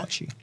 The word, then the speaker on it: Saatchi: Saatchi.